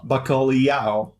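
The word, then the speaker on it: bacalhau: nothing to see here when l is combined with h leah leah no baccoliao if you arrived in portugal that's how i used to pronounce it i thought that it was a leah sound and i think a lot of people have a hard time even hearing the difference between leah and yeah yeah yeah yeah you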